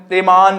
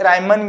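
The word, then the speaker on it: Riemann: Integral definition, integral रीमान सम, इसे रायमन या रैमन भी बोलते हैं, डिफरेंट प्रोनाउंसिएशन यूज करते हैं, कोई इशू नहीं है।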